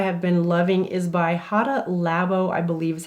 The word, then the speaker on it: Hada Labo: The moisturizer that I have been loving is by Hada Labo, I believe is how you say it.